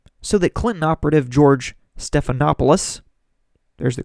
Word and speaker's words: Stephanopoulos: the ABC debate so that Clinton operative George Stephanopoulos there's the correct pronunciation can run cover for her well to